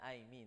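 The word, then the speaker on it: εἰμί: ito i me ba pero sa griego i me so ang pag-pronounce kasi niyan i me no so ito po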